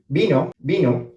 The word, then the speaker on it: vino: So if you say, for example, a wine, which is vino, it means wine, right?